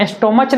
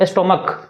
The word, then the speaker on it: stomach: जैसे यहाँ पर STOMACH, यहाँ स्टोमच नहीं पढ़ा जाता है, क्या पढ़ा जाता है इसको, स्टोमक। लास्ट में CH है लेकिन उसका उच्चारण क के जैसा हो रहा, तो उसमें सिर्फ क्या